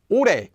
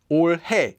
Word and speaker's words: 올해: to tonyo not chanyo ure is pronounced as ure not or kami is pronounced like